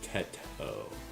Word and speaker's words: Teto: It's pronounced Teto. Oh, my bad. How did I pronounce it? I didn't say Tito, did I?